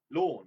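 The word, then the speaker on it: Lorne: And even I know he doesn't spell L O R N E. Lawn like lawn green.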